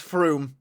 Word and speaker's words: Frome: Fruma. Close. It's Froome. Froome. I just had Windcraft flashbacks. They announced Fruma for 2025. Nah. What? Huh? Froome.